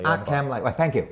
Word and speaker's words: Arkham: 咦，正喎！有師兄嘅糾正話嗰個 H 唔發音啊。應該到 Arkham 咪 Arkham 嚟，喂，thank you，係係啦，咁啊真係睇翻只嘢啦，外盒，呢個你係專家啦，冇咩好評啦，呢啲天地蓋咯，咁啊都叫做花紋紙噶，摸上手都幾硬淨，好坦白講，我都有啲手感嘅，係花紋紙嚟嘅，印得都幾靚嘅，咁啊係啦，好啦，好咁啊拎走佢啦，內餡咁啊可以都縮翻近少少啦，咁啊見到其實架撐咧。都唔少嘅，因為真係跟翻個 game 咧，又追擊槍啊，又兩支槍啊，又軍刀啊，等等等等等，俾曬你，俾曬你之餘，再有一堆造型手，我擺得比較亂啊，因為佢真係都想擺曬喺個台面咧，都有少少困難，同埋我驚撞底啊，咁啊，大家將就少少望一望啦。